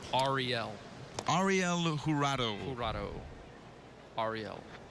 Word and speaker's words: Jurado: Ariel Jurado. Jurado. Ariel. As you can see, they're spelled J-U-R-A-D-O. They say the J is sometimes silent.